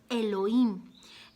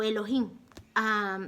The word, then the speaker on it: Elohim: muy interesante que es el login o elohim dependiendo de cómo lo quieran pronunciar es correcto llamarlo el login si es correcto llamarlo eloy si lo hacemos en una en una traducción latina este nombre que viene